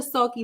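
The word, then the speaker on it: Salke: the sulky Brothers okay is spelled s-a-l-k-e pronounced sulky so they they supposed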